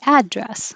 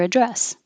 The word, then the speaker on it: address: noun what's your address you can pronounce it two ways you can say address which is the most common or you can say what's your address address and it means